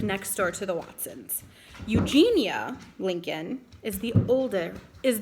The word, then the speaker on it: Eugenia: Eugenia and here's baby I just learned I always cut said Eugenia it's actually Eugenia I've been saying it wrong at the Lincoln sister's